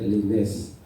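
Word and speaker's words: Lenes: Lui, c'est Pasteur Lénès. La seule différence, non pas là écrit à L-E-N-E-S, et puis S là, il prononcé, non pas l'écrit à L-E-N-A-I-S, c'est Lénès, ça veut dire S là pas prononcé.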